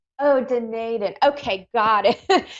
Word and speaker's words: Dunedin: Did I pronounce that correctly? Otago, New Zealand. What is it? Dunedin? That's close enough, Dunedin. Oh, Dunedin.